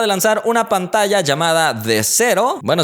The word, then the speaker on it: The Sero: lanzar una pantalla llamada de cero bueno si es que así se pronuncia no es con z es con s entonces el nombre es